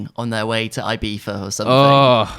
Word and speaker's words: Ibiza: The Ibiza, no, it's pronounced Ibiza, and they make it sound like it's this super luxurious holiday to an American.